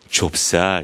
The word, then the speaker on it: 좁쌀: 이건 뭐 때문에 그러냐면 쌀이라는 단어가 원래는요. 이 자음 초성 자리에 비읍과 시옷을 연달아 썼어요.